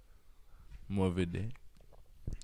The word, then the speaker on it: Mourvedre: How do you say that? Mourvedre. yeah, more of a dare.